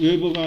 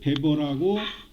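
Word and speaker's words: Weber: 여러분 교재를 보면은 막스 웨버가 아니라 막스 베버라고 하는데, 스페링이 잘 보시면은 지금 방금 한 얘기를 알 겁니다.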